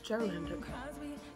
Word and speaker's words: Gerlinda: Like, no, it's Gerlinda.